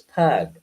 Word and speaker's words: pygg: clay called pygg, which before they changed how you pronounce the Y, as an I, like for pig, it was pug, like a pug dog.